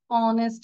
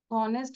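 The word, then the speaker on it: honest: বলবো হি ইজ অ্যান অনেস্ট ম্যান কারণ কি উচ্চারণটা আমরা হ বলি নাই অ বলেছি আমরা কি এইচ এর উচ্চারণ করেছি অনেস্ট বলেছি অনেস্ট বলেছি আমরা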